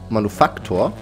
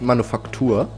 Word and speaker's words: Manufaktor: Also die Betonung ist ganz wichtig. Manufaktor. Nicht Manufaktur. sondern Manufaktor.